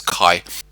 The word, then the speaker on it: kaya: They usually begin with kaya, and kaya is often truncated to one syllable in spoken Latropeth and comes out as kai.